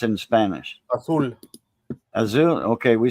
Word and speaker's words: azul: How do you pronounce it in Spanish? Azul.